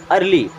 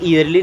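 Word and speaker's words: early: अर्ली, इसे ईयरली नहीं पढ़ते, क्या पढ़ते हैं, अर्ली, क्या पढ़ेंगे, अर्ली, एंड अर्ली मीन्स होता है जल्दी।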